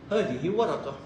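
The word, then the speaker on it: ورقة: you want to stop You don't need to pronounce the last letter. Don't need I know that's but all you have to do war you stop. Meaning waraka.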